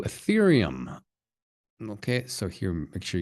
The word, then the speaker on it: Ethereum: So it's Ethereum, Ethereum, some people say Ethereum, but it's more like Ethereum, Ethereum. Okay, that's probably the best one, but there are a lot of different pronunciations out there.